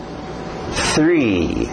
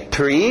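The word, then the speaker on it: three: 1, 2, 3. TH de sapo aí. São dois sons estranhos, o sapo e o R forte. Okay? Tree não dá.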